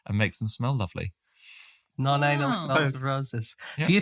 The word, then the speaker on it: nonanal: of them is called I think it's pronounced nonanal nonanal but it's SP non anal and non anal smells